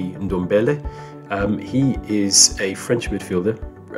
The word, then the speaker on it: Ndombele: going to be good, but I believe it's pronounced Ndombele.